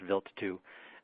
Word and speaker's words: Wild: It's spelled wild, W-I-L-D, but it's pronounced Wild 2.